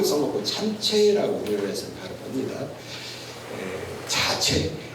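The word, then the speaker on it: 자최: 참치라고 해서 바로 봅니다에 자체 재수라고 써놓고 발음은 자체라고 대공 소공 시만 여러분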